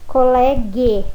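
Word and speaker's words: colleghe: Se eu tenho la colega no singular, no plural fica le colegue. Eu tenho que pôr o H para dar esse som de G.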